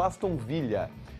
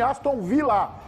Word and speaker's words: Aston Villa: dois minutos é Podcast pronuncia correto o nome do time Aston Villa esse l não é espanhol dobrado pronunciar o nome do